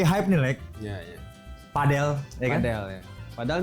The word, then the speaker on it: padel: Padel. Padel. Padel ya. Nyebut apa pronouncnya padel bukan padle.